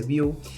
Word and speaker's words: Vue: difícil que aprendas Vue, que es web, que se escribe web, se dice Vue.